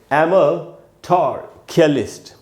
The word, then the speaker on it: amatorculist: ए के बाद म है और म के बाद आधा अ है, यानी म पर थोड़ी देर के लिए रुकना है।